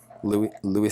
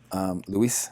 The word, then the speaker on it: Luis: of fucking shit, was Louis Scott. Luis Scott, sorry. I got to pronounce it correctly. He's Spanish.